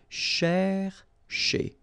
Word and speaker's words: chercher: So this first part here, C-H-E-R, you will pronounce it quite open, so it's cher, okay? And then here, just because you've got this ER at the end, okay, if you remember, the rule goes like ER at the end will be pronounced E, okay?